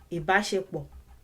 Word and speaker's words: ìbáṣepọ̀: And when you pronounce all those syllables together, like the third instruction in the song states, ìbáṣepọ̀, ìbáṣepọ̀, ìbáṣepọ̀, ìbáṣepọ̀.